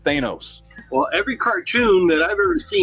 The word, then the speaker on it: Thanos: So phonetically, But it's vowel, consonant, vowel, which Yeah, I got means it's a hard A. Which is Thanos. Growing up, it was Thanos. According to the English language, his name is pronounced Thanos.